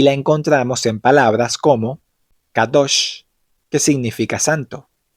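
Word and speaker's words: קדוש: Es decir, que palabras como Kadosh y Kodesh realmente sonarían algo así como Kadosh y Kodesh, como si pronunciaras una Q profunda, usando la garganta.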